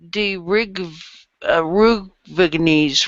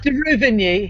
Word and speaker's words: de Ruvigny: Soldiers in the households, New Zealand, national role of the Great War, de Rugvigny's role. Boy, I totally massacred that one. Ireland's memorial. It's de Ruvigny.